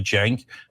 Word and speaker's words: Cenk: Cenk, this is pronounced like a J, Cenk, and then Uygur.